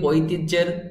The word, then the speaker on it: ঐতিহ্যের: আপনার এভাবে লিখতে হবে, লেখার সময় এভাবে লিখতে হবে, কিন্তু উচ্চারণ করার সময় জ এর মতো উচ্চারণ করতে হবে।